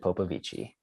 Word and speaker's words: Popovici: the record, for everyone, it's pronounced Popovici, like Popovic. Okay. It's just like it would have a CH at the end, Gotcha.